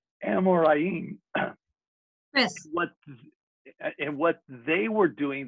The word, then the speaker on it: Amoraim: Amoraim. And you pronounce it just the way it's spelled. Amoraim.